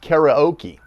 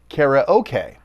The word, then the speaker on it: karaoke: But that doesn't change the fact that the word is a clipped compound of two Japanese words, kara meaning empty and okesutora meaning orchestra.